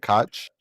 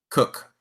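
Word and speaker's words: Koch: Is it Cotch Cook?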